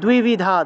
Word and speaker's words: দ্বিবিধা: উচ্চারণ হয়, ঠিক আছে, দয়ের নিচে বফলা থাকলে দুও উচ্চারণ হবে, তয়ের নিচে বফলা থাকলে তুও উচ্চারণ হবে, তাহলে দ্বিবিধা, দ্বিবিধা নিষ্ঠা পুরা প্রুক্তা ময়া নঘ